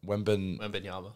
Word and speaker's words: Wembanyama: I'm not going to try and pronounce his name. How do you do it? Wembanyama.